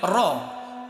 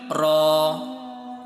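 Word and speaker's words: ر: তুমি দুইভাবে উচ্চারণ করতে পারো, স্পিডে পড়লে র, একটু ধীরে পড়লে র।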